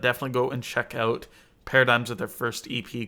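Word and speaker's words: PRDGMS: mentions on this list paradigms with their first ep called shift at least i'm pretty sure that's how you say the name p r d gms pretty sure it's pronounced paradigm it's kind of a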